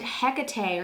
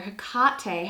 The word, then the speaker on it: Hecate: and it's exactly conjunct hecate or hakate however you want to pronounce that i'm originally from long island new york so tomato tomato don't come at me for the pronunciation of hecate um today we're gonna